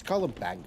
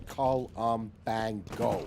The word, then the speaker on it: COLUMBANGO: It's COLUMBANGO, okay? Phonetically, you say the name COLUMBANGO. It's not hard to say.